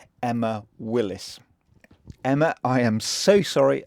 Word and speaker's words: Emma Willis: years I spoken to friends and family about Emma Wills only to realize on my visit that I've been pronouncing her name wrong the whole time some